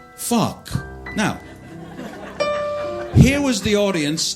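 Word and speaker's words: phoque: The other thing you need to know, if anyone speaks French, is that the French word for seal is P-H-O-G-U-E, but it's pronounced fuck.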